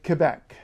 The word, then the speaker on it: Quebec: for instance um you will notice I say Quebec this is how I recommend saying it for